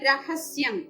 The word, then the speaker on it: രഹസ്യം: അതുപോലെ രഹസ്യം എന്ന വേർഡ് നമ്മൾ മലയാളത്തിൽ പറയുമ്പോ രേ എന്നാണ് വരുന്നത്, രഹസ്യം എന്നാണ് നമ്മൾ പറയുന്നത്. അത് സംസ്കൃതത്തിൽ രഹസ്യം എന്നേ പറയാവൂ. രായുടെ ഉച്ചാരണം പൂർണ്ണമായിട്ട് അവിടെ വരണം, രഹസ്യം.